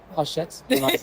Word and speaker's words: Hachette: Uh, it is pronounced hashet and I was like, sorry.